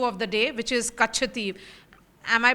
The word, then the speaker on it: Katchatheevu: relevant political issue of the day, which is Katchatheevu. Am I pronouncing it correctly, Vasudha? Yeah, it is Katchatheevu, yes. Katchatheevu.